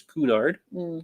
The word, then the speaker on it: Cunard: canard trivia question or some people across the ocean call this Kunard. Cunard. I think that's how it's said.